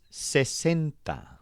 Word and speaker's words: sesenta: But the word for 60 doesn't have any bent sounds. All the vowels are short and crisp, and the stressed syllable sounds like cent. Sesenta.